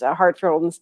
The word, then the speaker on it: Hartford: Hartford, that's how you say it.